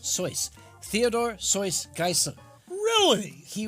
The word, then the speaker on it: Seuss: was his middle name it's actually pronounced soyce Theodore soy geisen really